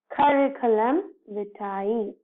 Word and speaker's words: curriculum vitae: So we generally pronounce this as curriculum vitae. So we should stress to each and every alphabet in this letter. See, curriculum vitae.